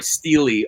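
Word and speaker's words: stele: St of vultures vultur I think sty and like kind of like the AE and the at the end of algae I think it's pronounced that way but maybe not ah I know if it's singular it like Stella it would be sort of a Stella uh but I think it's pronounced sorry Steely of vultures I could be wrong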